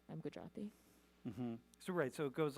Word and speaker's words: Gujarati: Do you say that they're Gujarati. Gujarati? Gujarati, yes. Gujarati. How do I do?